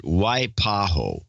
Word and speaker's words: Waipahu: if you're having trouble with my towns name pronounce it Waipahu white boy Waipahu Waipahu Waipahu Waipahu why alright